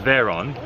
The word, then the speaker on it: Veyron: You say it right, it's Veyron.